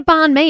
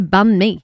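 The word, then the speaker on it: bánh mì: But it's not a barn me. It's a bunme.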